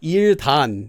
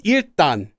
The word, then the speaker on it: 일단: Notice the pronunciation. It's not 일단. It's 일단 because of sound change rules, because of this letter.